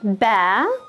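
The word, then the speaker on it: باء: letter is the letter ba which is pronounced like the letter b in english so it makes the sound ba remember it's a phonetic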